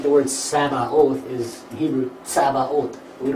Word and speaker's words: Sabaoth: Sabaoth.